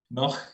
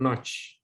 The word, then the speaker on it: Noh: Bilangnya gimana tuh, Noh? Noh. Yes, Noh. Noh. Yes. Aku bacanya versi bule, Notch.